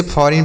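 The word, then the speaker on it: foreign: इसे फॉरेन पढ़ा जाता है।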